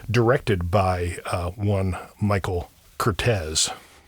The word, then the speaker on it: Curtiz: everybody who talks about the director Michael Cortez pronounces it as Curte, but his official biographer Alan Roodie uh says that everyone mispronounces his name. uh that it is pronounced Cortez and the evidence is is pretty clear on